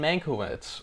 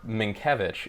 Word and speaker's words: Mankiewicz: Mank is about the life of Herman Mankiewicz, or Minkiewicz, if you pronounce it correctly. I'll Because continue to pronounce that's it actually how you say Mankiewicz. It's Minkiewicz. Minkiewicz. Like Sienkiewicz. Yeah, like Sienkiewicz. Well, you know, in Poland, which is where I believe Mankiewicz, the name, comes from, W's are V's, and the CZ is pronounced like a CH.